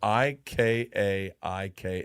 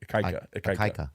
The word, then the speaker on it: Ikaika: It's IKIA. No, it's IKI maybe. IKAIKA is how you say it. Ikaika. It's Ikaika.